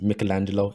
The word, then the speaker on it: Michelangelo: whole thing with michelangelo it's actually pronounced michelangelo in an italian dialect so that's just a